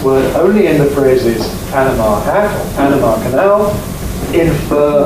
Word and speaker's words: Panama: it in English well some people call it p double stressed others call it Panama and the Americans in particular seem pretty fixed on Panama why do they get the stress wrong see is in Spanish it's stressed on the M because of hat because